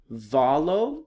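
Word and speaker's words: βάλλω: by yourself next one here is the word valo you have a Vita Alpha Lambda the lambda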